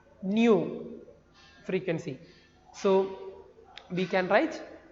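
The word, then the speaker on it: ν: This letter is pronounced as nu, which is the expression for the frequency.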